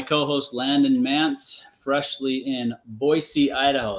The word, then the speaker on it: Boise: joined by my co-host, Landon Mance, freshly in Boisee, Idaho. It's been over a month now, so I don't know, maybe we shouldn't even mention that it's fresh or it's new. You're like, you know, pronouncing Boisey the right way.